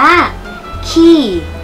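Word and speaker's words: quay: อ อย่าง งั้น ละ แต่ จริง ๆ อ่าน ว่า ขี้ ขี้ ขี้ แปล ว่า ท่า เรือ ค่ะ ขี้ ท่า เรือ นะ คะ ไม่ อ่า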